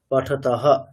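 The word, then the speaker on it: পঠতঃ: নেব পাঠতাহ পাঠতাহ বিসর্গ আছে বিসর্গের উচ্চারণ কেমন করবেন পাঠতাহ বিসর্গকে কি বলবেন হকার বলবেন ঠিক আছে হকারের মত করে পাঠতাহ ঠিক আছে আচ্ছা এরপরে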